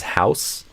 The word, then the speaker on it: house: too, like house versus house. So the noun is with an S, house. And then the verb, which is a little less common but exists, to house someone, is with a Z sound.